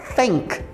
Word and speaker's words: think: mencionei na aula anterior o th é aquela pronúncia que a gente tem que colocar a ponta da língua entre os dentes então fica Thank Thank